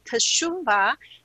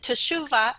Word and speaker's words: Teshuvah: Okay, so actually the fall feast coincide with the what they call Teshuvah.